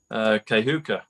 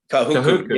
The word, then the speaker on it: Kahuku: So Kahuka, if I said it right. If I said that right. Kahuku, yeah.